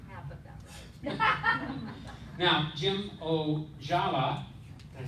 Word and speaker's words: Ojala: Now, Jim Ojala, Did I say it right?